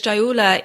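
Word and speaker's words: sthaulya: aggravation of medavash rotas obesity is described as chayola in the classic ayurvedic texts and in case I pronounce that very wrong it's spelled s-t-h-a-u-l-y-a when there is a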